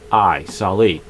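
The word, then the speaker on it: Salai: S-A-L-A-I, Sali.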